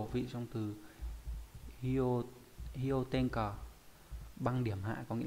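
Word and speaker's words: 氷点下: Còn khi ghép âm nó đọc là hyo, ví dụ trong từ hyo, hyo tenka băng điểm hạ, có nghĩa là dưới điểm đóng băng.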